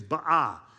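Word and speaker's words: בעו: The word for petition there in the Aramaic is ba. It's spelled b apostrophe a w and it literally means petition or request.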